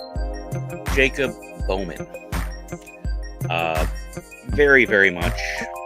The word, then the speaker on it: Boehme: I would like to talk about Jacob Boehme, or Jacob Boehme. Jacob Bowman.